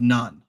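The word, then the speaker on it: Nun: And Joshua was the son of none. It's spelled nu n, but I found that a pretty interesting coincidence.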